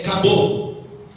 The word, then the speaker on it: Kabod: Expressando melhor a palavra, como o D é mudo, é Kabod, né?